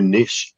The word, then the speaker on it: niche: got to find a niche too Niche and nich are both proper ways to pronounce that by the way but you